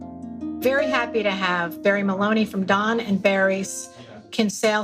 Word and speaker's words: Moloney: Very happy to have Barry Moloney from Don and Barry's Kinsale Historic Strolls.